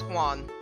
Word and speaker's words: Juan: supposed to be pronounced I know the J is silent and it's supposed to sound like a h like I believe right